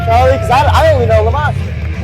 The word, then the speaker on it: La Mosha: Because I only know La Mosha. Well, it rhymes with La Tarka, Lucha Libre legend.